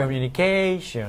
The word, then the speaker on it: communication: Communication. Right. Yes. So when you get to the stressed syllable in the word, you have to use your voice on the vowel.